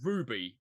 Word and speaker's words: RWBY: Yeah, what we're talking about is called Ruby, or as it's spelled RW. Yeah, it was spelled RWBY, right?